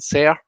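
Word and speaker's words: xer: They use the pronouns they, them, but say also use the pronouns say and sem and ser, spelled with an X.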